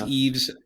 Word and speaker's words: Ive: was basically uh Johnny Ive I think it's it's I think it's I've but I've also heard it pronounce Eve's so so he he